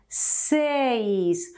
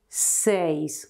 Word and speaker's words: seis: with C never with Q and remember to pronounce correctly this number six says when you have two bowels together in a